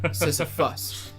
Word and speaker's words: Sisyphus: Sisyphus. Yeah. Lose it all for an express trip. Okay, yeah. We have confirmation. you are. Kevin 2 has confirmed that it is pronounced Sisyphus.